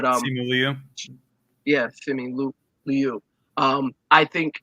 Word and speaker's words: Simu Liu: And mine's Simi Louis. I always pronounce his name wrong, but Simu Liu.